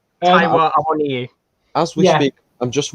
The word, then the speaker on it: Awoniyi: Awoniyi.